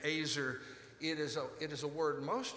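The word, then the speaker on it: עזר: In the Hebrew, it's pronounced azer.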